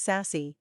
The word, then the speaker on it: SASE: new services or applications SASE pronounced sassy is a transformative approach